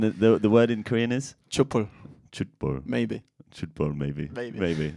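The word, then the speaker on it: 촛불: Chupul. Chutbul. Maybe. Chutbul, maybe. Maybe. This is a fantastic Korean pronunciation. We're going to have confirmation from Lobotomy. Is it Chutbul? Chutbul.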